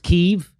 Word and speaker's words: Kiev: sight uh call what it's pronounced keith it's pronounced kiev i thought it was kev no it is not i know that's what